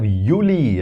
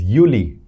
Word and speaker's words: Juli: And then we have Yuli, right? Because that is uni. This is Yuli. Yuli. U E. And this is Y. Yuli. Do J but pronounced as Y.